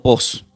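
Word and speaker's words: φῶς: Esta palabra luz del griego se pronuncia como post. P h o con un guion arriba y s.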